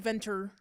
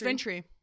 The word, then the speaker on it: Ventry: Well, it looks like Venter. Venter. I thought it was Venter. It's Ventry. Yeah. It's Ventry.